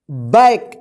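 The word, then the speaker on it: back: देखिए सी के बाद यदि के रहता है तो सी का उच्चारण क्या होगा? के होगा, यानी सी के एक साथ रहेगा तो क्या उच्चारण करेंगे? क। क्या करेंगे? क उच्चारण होगा।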